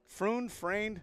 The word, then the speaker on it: Freund: Friend. His friend. Friend. Like friend. Okay. Yeah. Friend. 2 outs. For our listeners and viewers, they spell it F-R-E-U-N-D. So Friend, 0 for 1 so far today.